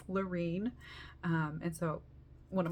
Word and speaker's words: Larene: A lot of people don't say my name right, can't say it right, or just Lorraine, Lauren, you know, there's lots of different ways, but it's Lorine.